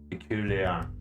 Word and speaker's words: peculiar: Peculiar, with no R in the end at all, and the USA variant.